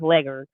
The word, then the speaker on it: Leghorn: liquors so if there's Leghorn you know foghorn leghorn he's a licker the actual way you pronounce this legger but those are the